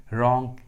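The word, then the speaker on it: wrong: डब्ल्यू का आवाज़ नहीं आ रहा है, डब्ल्यू साइलेंट है। रैप and right. उसी तरह रिंग, रॉन्ग, रिस्ट।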